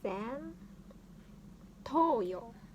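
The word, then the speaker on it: 前頭葉: So front, and it's pronounced as zen. So let's sing zen toyo.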